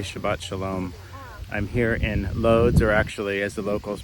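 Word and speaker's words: Łódź: I'm here in Loads or actually as the locals pronounce it here, it's more like Woj in the Jewish cemetery.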